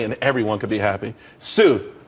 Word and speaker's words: Tsu: there's more money and everyone could be happy tsu it's pronounced sue though that's that's a website dot co dot